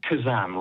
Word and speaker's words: Khuzam: Khuzam, like Shazam or Alakazam.